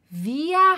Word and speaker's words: wir: aqui da frase é via aba o halal via hidden oahu então via aqui quer dizer nossa